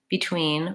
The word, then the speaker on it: between: The main and most important element is that your tween is long and clear, and your first syllable is short and reduced. So if I say between versus between, that's not a very big difference.